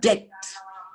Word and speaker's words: debt: debt debt it is debt debt sometimes in english there are words like this some letters are silent there are silent letters you don't pronounce it and the final word